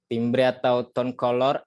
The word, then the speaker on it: color: bener pronunciation-nya harus bener ya bukan kolor tapi color kalau color mah yang di dalam celana kita itu kolor namanya ya itu menurut saya